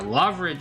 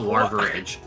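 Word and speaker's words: Lavaridge: Yeah, Loveridge is what we're looking for, not Larveridge. I heard an extra R there.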